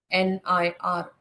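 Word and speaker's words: वह्निर्: VAHNIR, वन्निर ऐसे। आधे ह की आवाज लेनी है, नी की आवाज पूरी।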